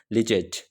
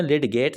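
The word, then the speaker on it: Lydgate: Number 1 इज लिजेट, इसको आपने लिटगेट नहीं कहना, दिस नेम इज लिजेट, हॉकलीफ एंड हेनरीसन।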